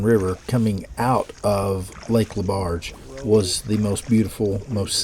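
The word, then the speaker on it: Laberge: LeBarge. LeBarge.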